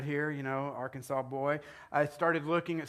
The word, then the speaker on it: Arkansas: It is illegal to mispronounce the name of the state. It is Arkansas, not Arkansas, period, okay?